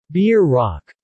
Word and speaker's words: Bierock: Bierock, pronounced somewhere between Brock and Brook in Nebraska and Beer Rock in the Dakotas, the Rocky Mountain states, Kansas, and Oklahoma, is a yeast dough